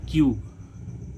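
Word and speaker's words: cube: तो इस यू का उच्चारण क्या हो जाएगा? यू। तो इसको हम क्या पढ़ेंगे? क्यूब।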